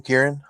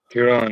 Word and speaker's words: Kieran: Kieran. Kieran, man.